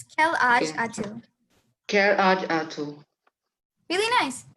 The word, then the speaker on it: quel âge as-tu: Would anyone like to pronounce that? That seems tricky. It's quel âge as-tu.